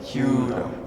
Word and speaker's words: Kyudo: Proper pronunciation is Kudo. Kyudo.